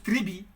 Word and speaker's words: tribus: En latin, tribus, qu'on prononce tribi.